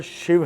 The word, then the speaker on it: शिव: शिव है, सदाशिव से शिव की उत्पत्ति हुई है और शिव हैं, शिवा नहीं है। राम है, नारायण है, तो ये नारायणा रामा नहीं है।